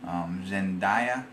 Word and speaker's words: Zendaya: Zendaya, I think is the way you say her name.